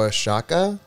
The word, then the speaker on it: Oaxaca: want to try it wait where i'm uh o-a-x-a-c-a oh oh a shakka okay oaxaca i'm tuning in for my mexican